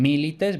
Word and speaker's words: milites: En milites vemos que la segunda I es breve, por tanto no lleva el acento, sino que el acento va en la anterior.